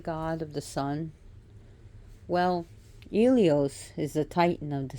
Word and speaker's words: Helios: Helios is still, some people see him as Helios, pronounced Ilios, is still the titan of the sun, while the Olympian of the sun is Apollonos.